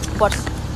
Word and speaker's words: Porsche: Porsche. Gimana cara bacanya? Porsche.